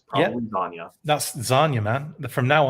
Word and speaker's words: Zanya: hear how the guy who created the character pronounces the name. It's Zanya. Zanya.